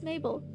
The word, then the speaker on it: Mabel: My name is Mabel. It rhymes with table.